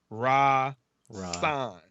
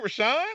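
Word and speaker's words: Rahsaan: because my name is rasan right and it's spelled r-a-h-s-a-a-n and it said sans mom and it says pronounced r-a-h-split raw sign so people can get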